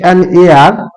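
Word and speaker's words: heir: তাই এ না বসে এন বসবে হি ইজ অ্যান এ আর এইচ ই আই আর এ আর টু মাই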